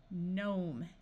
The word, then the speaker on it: gnome: can add suffixes wrongly if you start a word with G and N the G will be silent so this sound is n nnat Nash nashing gnome a r says R